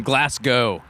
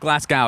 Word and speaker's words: Glasgow: Like you're just yeah and then Glasgow. Yeah. It's not It's not Glasgow, it's Glasgow. Glasgow. Like you're going there.